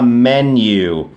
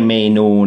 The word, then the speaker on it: menu: เมนู ให้ ฟัง ครับ เมนู นะ ออก เสียง ว่า menu ไม่ ใช่ เมนู นะ ครับ menu เหมือน มี ตัว แม่น นะ ฮะ รู้ จัก